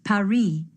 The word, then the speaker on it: Paris: Well, the locals pronounce it Paris.